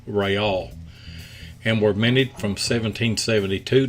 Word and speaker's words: real: Carlos III, Spanish for Charles III coins, were struck in 1/2, 1, 2, 4, and 8 reals, properly pronounced Reale, and were minted from 1772 to 1784.